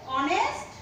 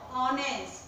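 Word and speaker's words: honest: আছে হি ওয়াজ দিয়ে অনেস্ট and hard working এখানে আমরা জানি সাধারণত এইচ কনসোনেন্ট এইচ এর আগে এইচ কনসোনেন্ট কিন্তু উচ্চারণ হচ্ছে ভাওয়েলের মতো অনেস্ট ভাওয়েলের মতো তার আগে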